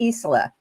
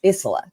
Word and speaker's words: Isola: Now I want to let you know that our guest next week is Reverend Kelly Isola. I said it wrong. It's Isola.